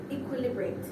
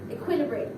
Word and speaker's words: equilibrate: So our word of the day was equilibrate. Equilibrate. I keep emphasizing the wrong syllable.